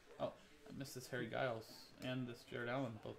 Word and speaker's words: Giles: i missed this harry guiles and this jared allen both numbered you say giles yeah is it harry generals well then then wouldn't it be jiff instead of gif based on that harry giles to 349